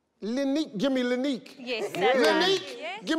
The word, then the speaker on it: Lineque: Give me Linique. Yes, sir. Linique, yes. Give me Stoof. See, if I look at your name, I know that's Linique. It's Linique, that's right. Yeah, but they phonetically spelled it for me and threw me off.